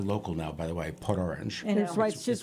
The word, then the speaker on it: Port Orange: I say it like a local now, by the way, Port Orange.